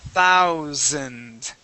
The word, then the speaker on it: thousand: Just remember when you see that that th sound, you're going to start off with the with your tongue between your teeth.